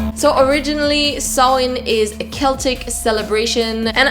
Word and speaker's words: Samhain: and yes as some of you may know saowin is the origin of our modern halloween let's get into that so originally sawin is a celtic celebration and actually in modern